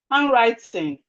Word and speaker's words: handwriting: Handwriting. Landlord. So the D here is silent.